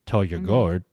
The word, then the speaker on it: Taljegaard: It was the same thing with Josephine Taljegaard, right? Like she was like, oh yeah, Josephine. Yeah, she was also like, well, you the way I would pronounce it is actually Toyagord, Toyagord, to that effect, or like Saulius Ambrulevicius, right?